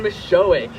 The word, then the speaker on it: Misiolek: Charles oh is here in spirit Thank You Michelle my last name is miss showing there we go it doesn't sound how it's spelled so I don't fault